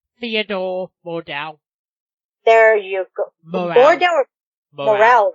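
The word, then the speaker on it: Morell: Morale, right? Morale, okay.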